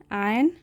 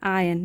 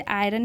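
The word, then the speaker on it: iron: तो an article हो गया और इसे पढ़ते हैं आयन। यहाँ पे आर साइलेंट होता है, तो जनरली हम इसे आयरन ही पढ़ देते हैं, बट इसकी करेक्ट प्रोनाउंसिएशन होती है आयन।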